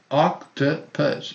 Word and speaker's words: octopus: versus virus minus Cactus octopus we have two schwas uh and uh octopus octopus exposure measure pleasure pressure